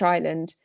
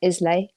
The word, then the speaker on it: Islay: outside of the whiskey world, nobody knows what Isla is. They have no idea it's a British island. My vet calls my cat Islay.